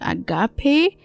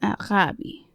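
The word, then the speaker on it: ἀγάπη: Most people pronounce it agape, as it is written in English, but it's actually pronounced arabi. A Greek friend of mine taught me this.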